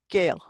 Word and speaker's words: Gael: You've got AE, as in Gael. The AE and the EA kind of sound like, yeah, Gael, which means Irish person.